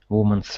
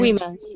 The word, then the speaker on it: women: Suffragettes were early activists in the battle for women's rights. Okay, agree or disagree? Agree. Agree. Good. Just watch your pronunciation. It's one woman and Women's, no? women, yeah. One woman, 2 women.